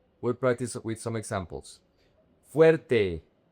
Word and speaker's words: fuerte: Fuerte. The diphthong is very important.